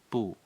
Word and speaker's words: 不: it small thing sure boo the fourth tone originally is fourth tone but before another first